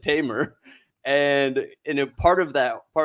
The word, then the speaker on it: Tamer: He's like, you're no Tamer. I'm like, yeah, well, I pronounce it Tamer.